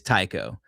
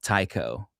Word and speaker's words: Tycho: That's a massive crater called Tycho. And actually, I think it's actually pronounced Tico.